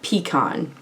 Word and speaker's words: pecan: I say it pecan, personally.